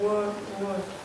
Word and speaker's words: word: It's like word. Word, yeah. Like bird. Actually, it's the same sound. Word. Is that phonetics? Is that phonetics? What do you mean, is that phonetics? Saying for the pronunciation, make the O and E, word, instead of word. Yes, if we see O-R, we think of or, no? So we feel like saying ward or world.